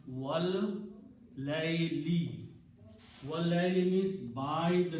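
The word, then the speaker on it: وَاللَّيْلِ: Whenever qasam is made, then last letter changes into a kasra. So when you pronounce these three together, it will be pronounced wal layli.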